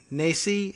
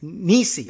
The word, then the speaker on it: Nesi: Ted Nesi, Nesi, has been Nisi. Oh, thank you for putting pronunciation in your Twitter bio.